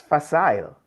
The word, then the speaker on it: facile: And the word for today is Yes, that's facile. facile. All right. And that's spelled That's right.